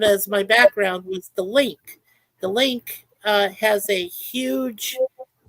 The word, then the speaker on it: LINQ: And what that Link merry-go-round does, the Link is actually, it's spelled LINQ.